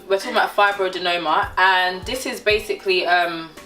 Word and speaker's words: fibroadenoma: is about fibro denominator i'm finally pronouncing it right i always say fibroid denominator blame my doctor we're talking about fibrodenoma and this is basically